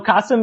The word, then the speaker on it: Qasim: No, Qasim is what I say, but it's all good.